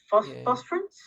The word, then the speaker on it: Phosphorus: I love anything that she writes, and I totally love Phosphorus. Is that how you pronounce it? Julia Baird's. Oh, yes, yeah. Phosphorus.